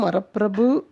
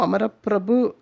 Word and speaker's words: அமரப்பிரபு: உசந்த காரியம் தான் பண்றீர் ஆனால் வாக்கு சரியில்லை பத்மநாபோ அமரப்பிரபு அப்படின்னு சொல்லணும் என்று கூறி அர்த்தத்தை விளக்கினார்